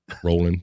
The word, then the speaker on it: Rowling: o w rolling rolling is it rolling like bowling what you got I thought it was rolling maybe I'm you might be I've heard I guess I've heard the Rowling pronunciation but now that you point it out to me I do see it's basically bowling with the R so that's rolling bowling